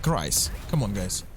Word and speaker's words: Kreis: I've been contacted by Kreis that I've been pronouncing his nickname wrong, and I was saying Cruz, which is a like, I'm completely idiot. Why would I say Cruz against instead of Kreis?